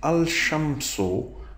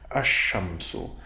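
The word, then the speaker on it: الشمس: And if you join it, it is al-shamsu, but that's not right. And let's see why we said that. We have to now watch about our tongue, what our tongue is doing. Basically, it is written as ash-shamsu.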